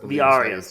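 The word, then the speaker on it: Villarías: I'm sorry Carlos Vias Vias thank you yeah the the the Double L is with my brain even though I know how it's supposed to be pronounced um so yeah that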